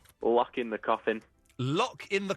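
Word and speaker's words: Lockein: Lock in the Coffin. Lock in the Coffin. Except it's like locking, but it's spelled L-O-C-K-E-I-N.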